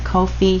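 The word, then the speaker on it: Ko-fi: a coffee I think it's the how you pronounce it Kofi shop k-o-i Dash f i and she has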